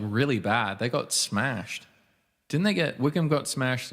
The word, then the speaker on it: Wycombe: Oh, that is pronounced Wickham.